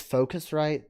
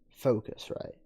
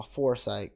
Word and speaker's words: Focusrite: but to be fair scarlet or foresight it's focusrite that's how it's pronounced i've heard it pronounced since i've been studying all this audio stuff i've heard it pronounced right and it's focus right but i always looked